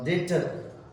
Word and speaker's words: debtor: डिट डेटर। DEBTOR डेटर यानी ऋण देने वाला।